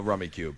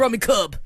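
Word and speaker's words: Rummikub: You know Rummy Cube. Absolutely not. I had to look it up on Wikipedia. No, you Cube know. is Spelled dumb. all weird. Yeah, it's Yeah. Rummy Cub.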